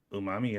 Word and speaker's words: umami: Yeah, I'm not gonna pretend like I pronounce Japanese great either. I try to though. I mean, try. umami is correct, so there you go.